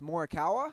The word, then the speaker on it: Morikawa: feet of the cup and then is it pronounced morikawa yeah 23 years old 23.